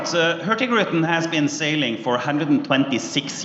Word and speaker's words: Hurtigruten: Daniel, tell us a little bit about first of all, how do you pronounce it? It's called Hurtigruten. Hurtigruten, all right?